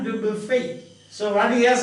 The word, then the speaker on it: Dubuffet: have already seen, Jean Dubuffet. Jean Dubuffet, that's a French name. The last syllable is not pronounced. So don't say Dubuffet, but Jean Dubuffet.